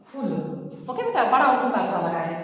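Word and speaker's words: फ़ूल: यहाँ फ में बिंदु नीचे लगा है तो हमारा क्या हो गया? फूल। इस तरह से फूल।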